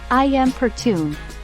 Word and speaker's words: importune: the perspectives of different individuals May 3rd importune pronounced I am pertune meaning someone is to annoy or pester them